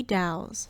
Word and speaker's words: Dows: It almost even sounds kind of dowy and dows rhymes with cows.